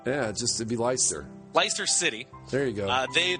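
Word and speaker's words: Leicester: ler ler Li ler they don't they don't they don't pronounce the Chesters over there it's l i c s t r yeah just it' be ler ler City there you go uh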